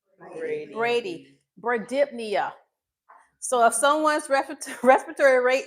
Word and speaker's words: bradypnea: So, if someone's respiratory rate is less than 12, it's b r a d y p n e a And you got to add the dip in there. How do you pronounce it?